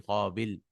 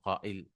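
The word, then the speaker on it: قائل: So how do you say the sayer? It was actually qabil. It takes a hamza, it becomes qa'il.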